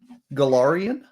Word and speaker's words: Golarion: Golarion. Golarion. We need a pronunciation guide.